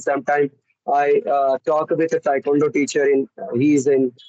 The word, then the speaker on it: Taekwondo: Am I pronouncing right? Taekwondo.